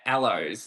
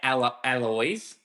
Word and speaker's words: aloe: You know, it's like okay, when you talk about aloes, like I used to say alloys, but then people go, no, it's aloe like aloe vera, and Okay, then that